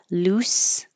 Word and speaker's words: loose: Loose sounds like an S.